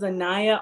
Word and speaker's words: Anayah: great so tell tell tell the people what your name is because I don't want to mess it up I am horrible at pronouncing names hello my name is annaya okay now y'all heard it I'mma try to say annaya I say it right annah I got it right on the first look